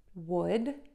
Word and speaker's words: would: Would, would. Yes, those words are pronounced exactly the same.